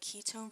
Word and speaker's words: ketone: next we have the Ketone versus the aldehyde so the Wehrenberg ketones because it sort of sounds like a key tone so I imagine a